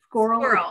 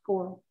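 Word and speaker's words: schorl: Cynthia told me this name, how to pronounce it, and I forgot already just a minute. Squirrel. S-C-H-O-R-L. Squirrel.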